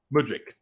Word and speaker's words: Mudryk: ski um too many other goddess Michael is pronounced Modric I'm gonna switch this around put man into